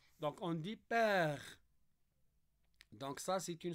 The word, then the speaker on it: père: dit pas sorcière ou bien on dit pas père e donc on dit père donc ça c'est une syllabe qui contient un miier donc on peut